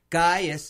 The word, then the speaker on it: Gaius: Well, no, the C sounds like a G. Gaius is actually spelled C-A-I-U-S.